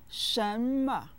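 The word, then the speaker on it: 什么: as you go along Schama is a question word that means what is set with the second and neutral tones listen Shama Shama Shama now repeat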